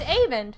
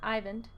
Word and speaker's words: Avend: Oh, it's Avend, not Ivan. I was saying it wrong.